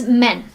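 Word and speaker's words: 门: at our last words this is spoken as men it's a similar way of pronunciation as the English men but it has different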